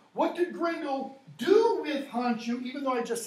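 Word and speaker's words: Hondscioh: It's Hondshu.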